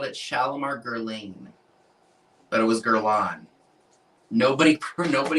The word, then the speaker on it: Guerlain: I always pronounced and nobody corrected me. I always called it Shalimar Guerlain, but it was Guerlain.